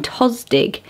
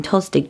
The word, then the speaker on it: Tostig: Tostig. How do you say that? Masculine Tostig.